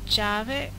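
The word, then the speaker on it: Javik: I can either go javic which apparently I've been saying his name wrong is javic I guess or I could go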